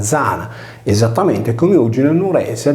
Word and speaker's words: Diana: Diana si pronunciava Zana, esattamente come oggi nel Nuorese è detta la Giana sarda, quando tale nome si trova in posizione intervocalica.